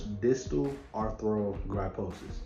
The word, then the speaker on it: distal arthrogryposis: i'm gonna put up on the screen this distal arthrogryposis yeah that's how you say it it's basically